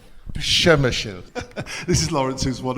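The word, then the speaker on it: Przemyśl: Przemysl. Przemysl.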